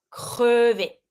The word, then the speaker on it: crevé: E without the accent, crevé.